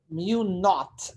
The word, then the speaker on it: mu naught: Mu naught, N-O-U-G-H-T, mu naught.